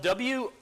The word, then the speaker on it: Wojtek: And Wojtek is spelled W-O-J-T-E-K, but the J is silent, so it's Wojtek.